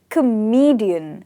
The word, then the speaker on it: comedian: Here it is comedian. So the stress is on, the second word.